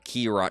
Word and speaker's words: Kei Urana: Kei Urana.